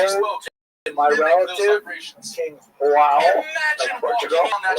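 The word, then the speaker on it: João: what, I could go to my relative, King Joao of Portugal. I love saying that name. I know I'm saying it wrong, but I like saying Joao.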